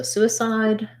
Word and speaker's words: suicide: um so we have su e side first syllable stress and suicidal for suicidal second stress on the side so suicide suicidal um yes those